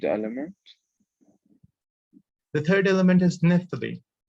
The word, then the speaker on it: naphthalene: The third element is naphthalene. Naphthalene. It's pronounced naphthalene.